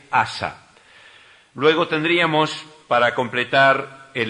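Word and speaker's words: Asa: que vamos a ver es asã se escribe como suena sin h asã luego tendríamos para completar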